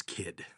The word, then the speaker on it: Kyd: the life of Thomas Kidd today and that's spelled kyd so okay would you have gotten that right on the quiz no no no it's not phonetic I'm out I would